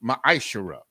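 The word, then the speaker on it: מעשר: verses 8 through 10 means 10th in the hebrew and it's pronounced maishira 10 of every penny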